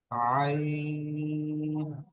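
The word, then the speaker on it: ع: এই মিউট করা অবস্থায় আপনারা আমার সাথে সাথে বলবেন তো, জ, আইন। আইনটি বলার সময় গলা দিয়ে এখান দিয়ে উচ্চারণ হবে, আইন।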